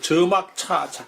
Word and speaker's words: 且莫車: 돼 있냐면은 이제 여기에 요 차자는 음이 자여의 번이다 이렇게 돼 있어요. 자여의 번이라고 돼 있으니까 이건 저라고 읽어야 된 거죠. 아까 이제 김 선생님이 그렇게 읽었죠. 그 저막차, 큰 아들이 장왈, 저막차,